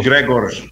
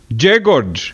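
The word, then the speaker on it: Grzegorz: Mr George George Brown g r z e g o r z Brown yeah that would be Gregor it's like a very very difficult it's very difficult to pronounce um so it's G so it's j it's it's j basically it's GE gor it's yeah Jor it's Jor Brown there we go I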